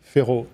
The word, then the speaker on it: Ferrault: u l t and half of the letters we don't pronounce we don't pronounce at all so Pharaoh thanks of the ancient